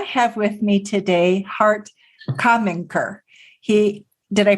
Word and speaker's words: Kaminker: I have with me today Hart Kaminker. Did I pronounce that correctly? Kaminker. That's. Why correct. don't you pronounce it for us so people get the right accent? So Kaminker, but you were pretty close.